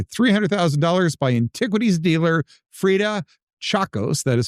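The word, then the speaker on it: Tchacos: In 2000, the manuscript was purchased for $300,000 by antiquities dealer Freda Chacos. That is spelled T C H A C O S.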